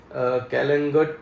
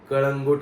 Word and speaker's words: कळंगूट: कोणतरी कमेंट केली की ते कॅलेंगट नाही कळंगूट आहे आता क्च्युली कसं जे